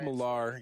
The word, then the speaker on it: Millar: Mark Mark Millar, you got to pronounce his name right. It's Millar. Nothing. I I have heard the guy pronounce it himself, yeah.